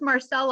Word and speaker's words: Marcel: you can help me is it Marc or Marcel hi my give it name is oh I'm sorry my name is my name is Marcel I'm oh that's a nice